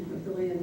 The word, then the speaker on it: Papillion: I have to learn to say it correctly because it doesn't look like it should be Papillion, but it's how they pronounce it.